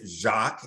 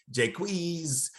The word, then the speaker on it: Jacques: again there are um my name is jacques and my name has been butchered ever since i started kindergarten jaquez jacquez jake josh um and again uh the